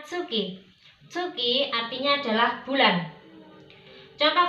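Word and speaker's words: 月: Bulan dalam bahasa Jepang disebut dengan tsuki. Ya, jadi kalau dia berdiri sendiri seperti ini, kita bacanya tsuki. Kalau dia ditemani dengan kanji yang lain atau berpasangan dengan kanji yang lain, maka kita membacanya dengan getsu atau gatsu.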